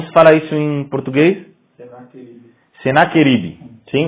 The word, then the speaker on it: Senaquerib: Senaquerib.